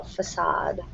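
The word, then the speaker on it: façade: Um, but it has a French pronunciation. So, facade.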